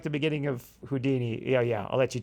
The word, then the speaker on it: Houdin: sir I like that Ryan pronounces it houdin close to Houdini without the I jack pronounces it Udan in the French style and Mickey just wants